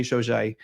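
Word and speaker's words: Shojai: and I'm like how I've heard shiou is how she said it so I'm like I'm just trying to do it right Yeah.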